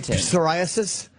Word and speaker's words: psoriasis: Do you say psoriasis? That is a silent P.